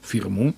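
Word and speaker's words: фирма: входить и многие прочили свою фирму с ударением на последнем слове когда собирались и стали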